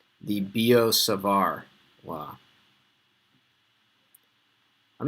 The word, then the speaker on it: Biot-Savart: Both words end with T, but you say it like there was no T. Biot-Savart. Okay, don't sound like a bozo and say Biot-Savart or something like that.